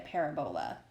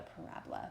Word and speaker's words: parabola: My husband calls it a parabola, but it's actually called a parabola.